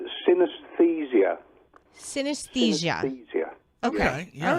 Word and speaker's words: synesthesia: It's pronounced synesthesia.